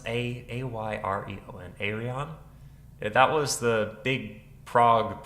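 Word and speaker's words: Ayreon: come back to them what's how do i pronounce a a-y-r-e-o-n aerion that was the big prague project that there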